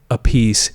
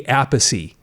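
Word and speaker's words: Appice: Carmine a piece. This is Vinnie Apey. It's funny. Okay, they pronounce it differently although they're brothers and they have the same last name.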